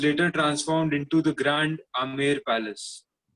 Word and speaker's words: Amer: The Amer, pronounced Amer, is at a distance of about 11 kilometers from Jaipur.